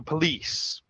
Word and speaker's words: police: is stressed lease so police okay so you hear the first word pencil we stress the first syllable pencil yeah the second word we stress the second syllable police so call the police somebody